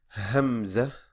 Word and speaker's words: Hamza: Hamza. Hamza. Hamza. Now, even though this one is called Hamza, it doesn't have a ha sound like the letter before it, but it has the sound, makes the sound.